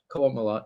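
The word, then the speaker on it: Qowat Milat: sect called, I'm gonna get it wrong, the Kuat Malat, if I'm pronouncing it correctly. Right. Kuat Malat, yeah.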